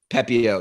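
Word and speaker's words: Pepiot: The Pepio.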